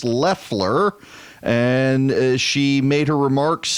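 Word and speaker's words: Loeffler: of this habit now I've been saying Lafleur but it is pronounced Leffler and she made her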